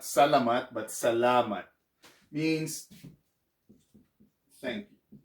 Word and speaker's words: salamat: to say salam okay salamat is pronounced with an accent right here salama it's not salamat you know some people